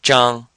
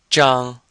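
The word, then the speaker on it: 张: So it's the same final, ang, but with the zh. So your tongue is curled when for this zh pronunciation, your tongue is curled and you're saying like a j sound, zhang. And this is first tone, so it sounds like zhang.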